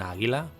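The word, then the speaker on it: àguila: Here we have an "aguila": "a-gui-la". We confirm that it is "esdrúixola": "a*-gui-la". Therefore, we can just put an accent mark on the stressed syllable.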